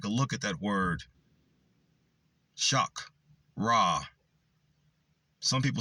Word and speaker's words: chakra: Chak. Ra. Some people say chak. Some people say shock. It's chak or shock, isn't it? It can be either one.